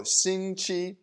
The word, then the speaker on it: 星期: most but i'll explain the others too so shinchi that is how do you say week so